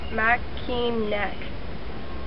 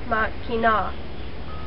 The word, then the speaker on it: Mackinac: Most people pronounce it Mackinac, but the correct way to pronounce it is Mackinac.